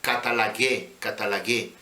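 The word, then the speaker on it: καταλλαγή: Esto quiere decir la palabra catalague, tiene acento en la E.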